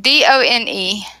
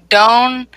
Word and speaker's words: done: say its name so don't but we don't say it like this we break the rule and we say done it's almost like d-u-n have you ever done